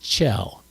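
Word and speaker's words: Kjell: woody twice but he wasn't as prolific as chel lingren chel KJ e l is how you spell his name and it's pronounced chel so that's cool uh yeah I like to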